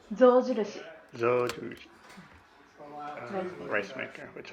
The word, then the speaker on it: Zojirushi: Sojushi. Zojirushi.